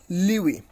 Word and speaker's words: lewe: So it is LEWE, Liwi. You can also pronounce you can also know the pronunciations of this particular word clicking on this on this sound icon.